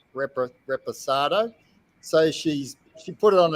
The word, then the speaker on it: Reposado: Reposato. Reposado.